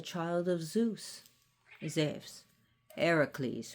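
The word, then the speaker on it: Heracles: of Zeus is if Eericles who we call Hercules especially that's a Roman pronunciation of Hercules but who we know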